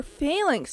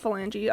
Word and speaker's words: phalanx: wait disturb thistle finger Phalanx not phalange I'm so sorry I want to end its feelings all the way around I've been saying it wrong the whole time wow realizations that